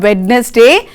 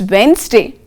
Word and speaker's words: Wednesday: Most of us say Wednesday. It's not Wednesday, it's Wednesday. And sandwich, your favorite.